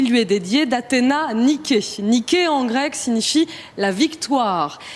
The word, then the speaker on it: Niké: que c'est un état à la fin, donc cette lettre grecque, et que donc on le prononce E.